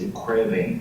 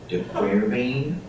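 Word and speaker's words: de Quervain: Now an older name for it is DeQuervain, but I love that name because it rhymes with pain. DeQuervain, pain. DeQuervain, pain.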